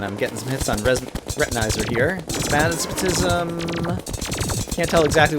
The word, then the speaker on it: Retinizer: And now we can focus on Retinizer. Rhymes with laser.